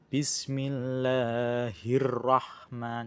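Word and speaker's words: بسم الله الرحمن: Ini termasuk hukum bacaan alif lam syamsiyah yang mana alif lam di sini tidak terbaca karena terlebur karena langsung melebur ke dalam huruf ro. Jadi tidak dibaca langsung melebur ke dalam huruf ro. Cara membacanya bismillahirrahman ya. Jadi alif lamnya tidak tidak terbaca langsung masuk ke dalam huruf ra.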